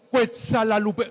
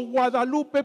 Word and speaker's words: Guadalupe: Bernardino Santa María de Guadalupe padre padre padre padre yo supe que no es Guadalupe sino cuetz Lupe No es cierto No es cierto es